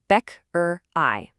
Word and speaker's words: Bäckerei: Die Bäckerei. The key part here is that I sound at the end. It sounds just like the English word I. Bäckerei.